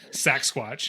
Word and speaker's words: Saxsquatch: especially since I've learned how to say it, Saxsquatch.